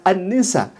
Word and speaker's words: an-Nisa: Al-Nisa, tidak kemudian dibaca An-Nisa. Kalau misalkan ada alif lam menghadapi nun, itu harusnya alif lam syamsiyah. Artinya alif lamnya langsung dimasukkan ke nun, jadi an-nisa.